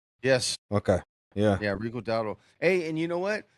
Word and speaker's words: Rico Dowdle: Yeah, Rico Dowdle.